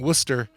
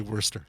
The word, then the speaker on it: Worcester: So they don't pronounce the R. Therefore, they're correct in saying Worcester. We live outside of Massachusetts, so we pronounce the R. So we say Worcester.